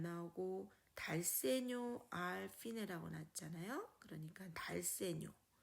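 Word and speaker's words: dal segno: 달세뇨라고 읽습니다. 달세뇨.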